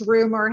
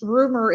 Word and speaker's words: Rumohr: Rumor has it. You know, the Adele song. That's what I usually tell people. Yeah, that's it. Nothing crazy. Just rumor. I heard a rumor.